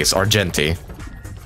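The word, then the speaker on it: Argenti: over no okay no it's not arti it's arti I I miss I've been mispronouncing his name this whole time I'm aware of that but yeah people have corrected me AR jenty you pronounced the G all right last one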